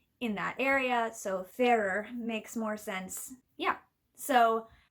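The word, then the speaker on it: Farrar: by Janet and Stuart Ferrer, which I only just learned recently is how you say their last name. And once I was told that made total sense to me because they lived in Ireland.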